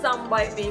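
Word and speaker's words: Some By Mi: called song by me it's written as a song by me but the lady who gave me this kit is was korean and she told me that it's pronounced as song by me so song by me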